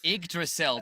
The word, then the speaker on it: Yggdrasil: And rightly so, we've confirmed that we're moving over to, and I can never pronounce it, Yggdrasil Path. Yggdrasil. Don't okay. Pretend it's an I.